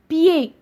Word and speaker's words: pied: Le D muet. Par exemple, pied. ما نطقناش la lettre D.